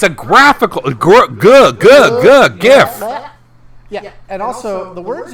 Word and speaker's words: GIF: a side tangent um it's it's gif don't be don't be weird yeah shut the up i know you're like uh the original creator wished for it to be referred to as jeff well then maybe he should have spelled it right maybe he should have